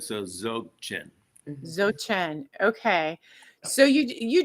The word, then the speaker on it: Dzogchen: Jochen? No, Zochen. the D is silent. See, So D is fine. the Okay. D is silent, so Dzogchen.